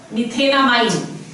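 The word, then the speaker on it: methanamine: Let's see, अगर हमारे पास है CH3 NH2, the root word over here meth, ane, e खा लिया, amine, methenamine. This is how you pronounce it, methenamine.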